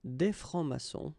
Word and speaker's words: francs-maçons: S here and S here. Des francs-maçons, and then you don't pronounce them.